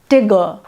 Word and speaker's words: Tigger: calls his pet tiger tigger tigger t-i-g-e-r pronounced to rhyme with snigger which takes away all